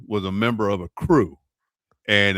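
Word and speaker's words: krewe: uh, my cousin was a member of a crew, and it's K R E W. That's how they pronounce it, the French French spelling of it.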